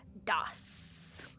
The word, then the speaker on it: DOS: PCs ran off of an operating system called MSDOSS prior to Windows 95, pronounced DOSS.